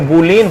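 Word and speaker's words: Boolean: ब बड़ा ब न एन बोलि बुलियन इसको बुलीन पढ़ेंगे स्पेलिंग क्या बन बुलीन अलजेब्रा पढ़े लिख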